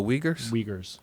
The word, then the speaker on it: Uyghurs: what are they called they're called the wiggers it's spelled like u-y-g-h it's their version of